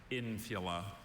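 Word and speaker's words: infula: Are there any alternate pronunciations? There is just infila.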